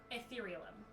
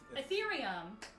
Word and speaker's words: Ethereum: and that element being etherealum. Etherealum? Ethereum? Ethereum. You added like 3 extra syllables to that.